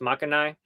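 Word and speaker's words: Makogai: it looks like makagi or something but it's pronounced makanai it's in the former leper colony and there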